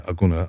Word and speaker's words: Agona: Like so we're from the Aguna clan in Ghana. And Aguna? Like, yeah, Aguna. I think it's spelled Agona.